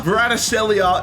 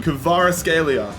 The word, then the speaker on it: Kvaratskhelia: The Georgian winger, Vicha Kvaratskhelia, is joining us here. Hold up, I need to look up on YouTube how to pronunciate his name. Kvaratskhelia.